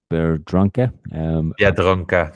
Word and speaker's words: Biedronka: Last week you mentioned a supermarket, Biedronka. Biedronka.